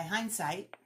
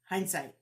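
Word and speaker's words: Hinzeit: apples charmed apples by hindsight yes that's the way you pronounce it because i went on their website and figured it out and they've got imprint parentheses pronounced hindsight and this was actually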